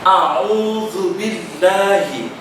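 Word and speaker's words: أعوذ بالله: Pada awal kalimat terdapat huruf hamzah, alif. Kadang ada yang membacanya dengan o, itu dibaca tebal. Ada juga yang membacanya terlalu tipis, ini kurang tepat. Yang benar adalah dibaca dengan tawassut atau pertengahan. A'udzu billahi. A'udzu billahi.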